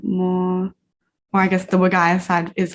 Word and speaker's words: Wergaia: It's called Wergaia Jarlin, is how you say it.